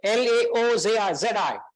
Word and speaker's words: Laozi: How do you pronounce it? So Laozi.